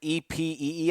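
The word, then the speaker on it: épée: It's like EPEE. I think it's spelled.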